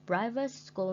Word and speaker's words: private: And private school means trường tư thục. And like number 1 and number 2, we put the stress mark on the first syllable like this.